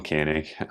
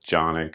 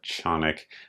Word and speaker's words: Canik: I asked him how to say it, and he said Jonic or Chonic, depending on sort of how I heard it with my English-speaking American ear.